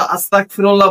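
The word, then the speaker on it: أستغفر الله: এস্তেগফার পাঠ করার সময় যখন আমরা আস্তাগফিরুল্লাহ বলি এখানে অনেক মানুষ গয়নের জায়গা কাপকে উচ্চারণ করে ফেলায়। যার কারণ হচ্ছে আস্তাগ হচ্ছে হা আল্লাহ আমি আপনার কাছে ক্ষমা প্রার্থনা। আর এখানে যদি গয়নের জায়গা কাপটাকে উচ্চারণ করা হয় তাহলে দেখা যায় হায় আল্লাহ আমি কাফের হতে চাই।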